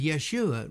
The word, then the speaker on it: Yeshua: Joshua, son of Nun, was also called Hoshea and Jeshua, though in Hebrew Joshua and Jeshua would be pronounced Yehoshua and Yeshua respectively.